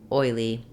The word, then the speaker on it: oil: fluently first of all oil has the diphthong oi we often spell that with o o I like an oil or boil or with oy like in boy or toy